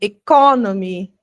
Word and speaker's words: economy: Eu sei que economy é diferente de economic, certo? Que vai ter um stress numa sílaba diferente.